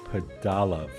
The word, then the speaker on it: Pudalov: So Andy, for today's story, you spoke to a guy by the name of Andrew Padal. Did I get that right? Correct. Correct pronunciation.